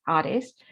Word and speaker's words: Hades: me haiti is why i'm told the proper greek pronunciation is artist and her sisters were